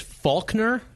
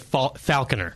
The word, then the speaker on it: Falconer: You can, and weirdly, his name is Faulkner, but it's spelled Falconer. And it's Faulkner. As I told him off the air when he was in here, I would be pronouncing it Falconer.